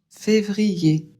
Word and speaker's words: février: février. E accent aigu, ça fait e pareil que er r à la fin d'un mot. Donc on prononce février.